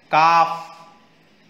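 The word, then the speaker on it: calf: okay B silent है काफ L silent new के silent com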